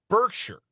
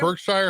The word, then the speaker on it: Berkshire: Is it Birkshshire or Hathaway? No, it's Bergkshire. It's Bergkshire.